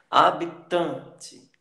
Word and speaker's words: habitante: Habitante, habitante, habitante. O tan é a penúltima sílaba, é a sílaba tônica.